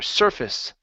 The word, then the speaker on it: surface: good uh right here instead of uh sface it's sir surface surface surface okay uh below